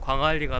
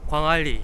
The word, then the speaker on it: 광안리: 싫고 조금만 더 가면 광안리가 나옵니다 광 안리라 발음하는게 아니라 광알리 이렇게 하는게 맞죠 이곳이 광할 이군요 저기